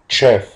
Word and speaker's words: chef: وبتتنطق chef. Chef. عشان زي ما خدنا قبل كده إن حرفي ال CH بينطق chef.